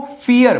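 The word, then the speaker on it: vier: Four को फियर। भले ही ये वी है बट व को फ़ प्रोनाउंसिएशन करते हैं जर्मन में।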